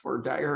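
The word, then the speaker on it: voir dire: called in law of the voir deer which is french for to see and to say um and is often pronounced for dire and dire it can actually be um but once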